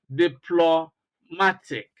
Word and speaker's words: diplomatic: example for IC for words ending in ic you have diplomatic you see diplomatic now the first thread the first syllable is D then second syllable plot and the test level ma the the last one tick deployment then you have